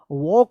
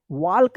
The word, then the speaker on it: walk: कि जो है ना इसका सही उच्चारण जो है ना वॉक होता है, वॉक, वाल्क नहीं होता है, वॉक, WALK, वॉक। अब देखिए यहाँ पे TALK,